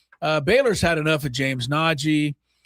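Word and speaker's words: Nnaji: James Nagy. Yeah. His last name, you may recall it. I'll give you a little clue. His last name is spelled N-N-A-J-I.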